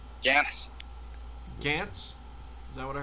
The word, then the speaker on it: Gantz: Gantz. Gantz? Is that what I heard? Yeah, Gantz. Gantz. Oh, Gant. That's easy to Benny, pronounce.